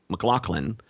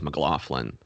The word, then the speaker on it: McLaughlin: UK Ireland or Scotland I always try to have them pronounce my name as it should be which should me ml mclocklin uh but I um here in the states I think they slurred as mlin oh right so that's